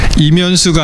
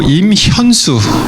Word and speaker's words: 임현수: 한국계 캐나다인인데 이분 이름을 발음을 잘 해야 된다 그래요. 왜냐하면 이분이 이면수가 아니고 임현수 목사님이라는 분인데 이분이 그러더라고요. 어떤 교회에 가서 자기를 소개하는 목사님 감사합니다 그러면서 많은 부분에 자기를 그냥 이면수라고 소개를 한대요.